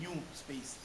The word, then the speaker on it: NuSpace: institutional repository is is is spelled Nu space but is pronounced as new space it was derived from